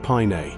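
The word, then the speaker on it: Paine: The name Pain pronounced pine comes from the Taywelche word for blue, referencing the dominant hues of the landscape.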